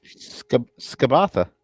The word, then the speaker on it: Skabatha: Skabatha. Skabatha is correct, according to the pronunciation guide.